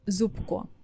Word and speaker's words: Зубко: If you listen to it, if you hear my last name for the first time, you could think that I spell it like Зупко. But no, we're using the letter б in the middle. But you couldn't know that if I didn't tell you that.